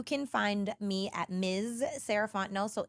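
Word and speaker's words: Sarah Font: find me at Ms sarant no so MSS r a h f o n t n o t the t is silent um that's me on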